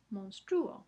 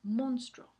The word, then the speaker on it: monstruo: No es monstruo porque la u sabemos porque la u no lleva tilde. La última u no lleva tilde. Si la u en monstruo llevará tilde, pues se pronunciaría monstruo, pero así no se pronuncia.